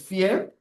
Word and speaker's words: vier: And 4 is fear, like you fear something.